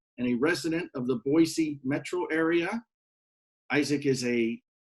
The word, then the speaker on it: Boise: that's true you know it's pronounced with an S not a Z so Boise and we